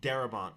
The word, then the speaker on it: Darabont: No, but I think I might have said his name wrong. Darabont.